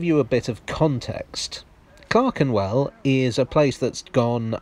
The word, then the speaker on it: Clerkenwell: travels take me to clarkenwell for those of you unfamiliar clarkenwell or clark and well as i pronounced it just then for some reason lies just outside the